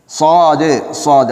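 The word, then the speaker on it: صاد: நேரத்திலே நாங்கள் அதையும் சொல்லுவோம் அந்த எழுத்தை சாது சாது அதாவது சிராத்த என்று கனமாக உச்சரிக்க வேண்டிய ஒரு எழுத்தாக அது இருக்கிறது சில வேளை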